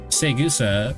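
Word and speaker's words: Saegusa: Segusa, I keep saying her name correctly, but it feels like I'm saying it wrong.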